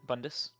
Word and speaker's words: Bundus: So, Bundus. Am I pronouncing that right? Yeah, Bundus.